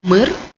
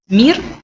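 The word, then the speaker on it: мир: in Ukraine, it's like mir. Yes, and it writes like in Russian, mir. It's the same, but it's pronounced in another way. Mir, it's Russian, and mir, it's Ukrainian.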